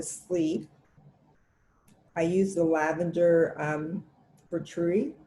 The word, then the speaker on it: Vitruvi: And just before I go to sleep, I use the lavender Vitruvi. How do you pronounce it?